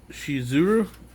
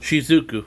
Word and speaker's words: Shizuku: Shizuru. Is that how you say her name? I'm pretty sure I just called her Shizu. Shizuku.